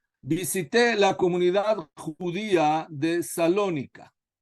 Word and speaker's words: Salónica: Hace algunos años visité la comunidad judía de Salónica. No sé si dicen Salónica o Saloniki, como ustedes lo pronuncian, pero como dicen generalmente. Salónica. Salónica, perfecto.